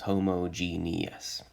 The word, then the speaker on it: homogeneous: sure that we all notice that there's an extra e there and that means we get an extra syllable so five syllables homogenious okay so we're now